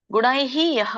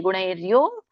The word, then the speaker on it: ಗುಣೈರ್ಯೋ: ಗುಣೈಹಿ ಯಹ ಅಂತ ಹೇಳ್ತಾರೆ. ಅದಕ್ಕೆ ನೀವು ಹೇಗಿದೆ ಹಾಗೆ ಹೇಳಿ. ಗುಣೈರ್ಯೋ ನ ವಿಚಾಲ್ಯತೆ ಗುಣಾವರ್ತಂತ ಇತ್ಯೇವ.